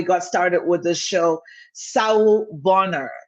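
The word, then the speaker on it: sawubona: started with the show saul bonner you get used to pronouncing it it's a zulu word um so wherever that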